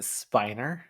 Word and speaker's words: Spiner: Sheldon can't believe what Spinner has done. And he put Spinner's name at the top of the list. Isn't it He is sorry, isn't it Spiner?